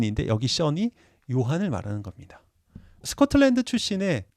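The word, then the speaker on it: Sean: 또 다르게 발음이 됩니다 바로 아일랜드에서는 션으로 발음이 됩니다 아엠 쌤이라는 영화에 보면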